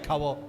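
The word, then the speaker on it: כבוד: En hebreo es kabod, se pronuncia kabod, que significa peso, valor y gloria.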